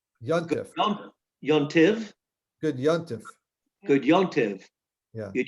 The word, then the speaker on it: Yontiv: good yontiv. Yeah. Good yontiv is a linguistic phrase that illustrates the evolution of Jewish language. Yontiv is a Yiddish pronunciation of the Hebrew adjective-noun combination Yom Tov, a good day.